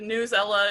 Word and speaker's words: Newsela: have used before but newsela or i've heard it pronounced different different ways but news ella is a website that